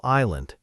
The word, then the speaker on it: island: I visited a small island and honestly, it was the best hour of my whole trip." Notice how many silent letters just appeared in one sentence. Island with a silent S, and hour and honestly with a silent H.